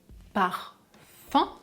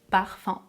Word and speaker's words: parfum: Je peux prononcer par fin si je décide de prononcer la 4e voyelle nasale, par fin, ou bien je peux prononcer par fin avec les lèvres étirées. Parfum.